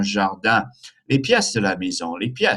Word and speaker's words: jardin: Un jardin, nasal sound, un jardin.